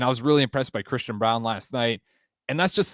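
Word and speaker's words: Christian Braun: But when you're watching, Christian Brown, I believe it is pronounced Christian Brown, despite the spelling.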